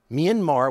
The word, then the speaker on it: Myanmar: Myanmar, which is the proper pronunciation, Myanmar is what the military regime called it.